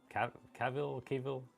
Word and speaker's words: Cavill: Cavill, Henry Cavill, all of his movies, and all of that Justice League stuff.